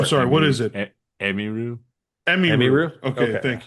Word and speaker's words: Emiru: Emiru. Emiru. Emiru? Okay. Okay. Thank you. Emiru. Well, that means everyone's been kind of mispronouncing it.